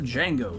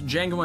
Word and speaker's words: Django: The key inspiration came from Sergio Corbucci's fantastically explosive Django, starring Franco Nero. Nero is given a terrific cameo. The D is silent.